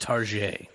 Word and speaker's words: Target: shop it was Target it's it's pronounced tar and then see this